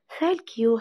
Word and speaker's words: thank you: Thank you هلا. Thank you هلا. طبعا ما بنقولش thank you، يعني بنطق حرف الأس.